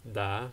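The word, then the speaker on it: đá: The second word of soccer is da, similar to in Spanish.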